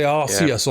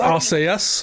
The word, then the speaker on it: Arceus: You say Arceus on this year podcast. I think it's Arceus, but no, we say Arceus. I say arse ears. Like ears on your ass.